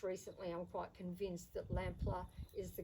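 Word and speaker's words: Lamplugh: So now I'd like to talk a little about Lampler Hall, and Lampler is spelt L-A-M-P-L-U-G-H, and you'll also see it spelt L-A-M-P-L-O-U-G-H. And for a long time I thought Lamplow was the name of the property, but in my research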